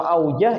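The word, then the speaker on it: أوجه: Itu bacanya aujuh lah bidzamil jim. Jamak daripada wajhun. Kalau aujah itu isim tabdal daripada wajhun.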